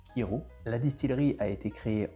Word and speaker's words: Kyrö: D'ailleurs, je crois que ça se prononce Ciro et non Kiro.